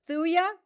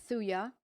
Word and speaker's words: Thuja: Susan Green says Thuja for warts. Now through the years, homeopaths have always used Thuja. That's spelled T-H-U-J-A. It's a silent J.